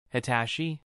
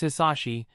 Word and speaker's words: Hisashi: Hitashi? Nice to meet you, she responds happily with her lisp. No. No, please no. It's Hisashi, Hisashi. Please say it right, he said, sweating nervously.